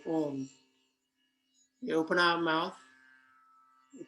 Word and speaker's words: Om: So how we say Om, we open our mouth, we pronounce the O and the together. So it sounds like Om.